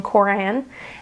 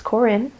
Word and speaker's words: Corin: I realized I was pronouncing that wrong. I was saying Corran, and it's Corin.